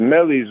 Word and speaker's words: Millyz: It's Millyz.